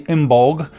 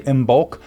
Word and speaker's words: Imbolc: Some say, which is in February, some say Imbolg, some say Imbolc, some say Oimok. There's different ways of saying it.